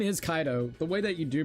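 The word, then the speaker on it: Kaito: His name is Kaido. The way that you do pronounce it is Kaido.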